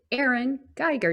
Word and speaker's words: Erin Gieger: of our founding intro guests so welcome today erin geiger did i say that right you did michelle